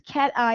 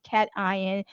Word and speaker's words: cation: uh cat eye if you say this is cat eye and then what do you say this is